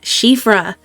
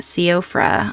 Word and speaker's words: Siofra: didn't meet her and her name because I finally looked it up is pronounced shifra you don't do homework Margaret you're not in school so yeah this is shifra not siofra I really have to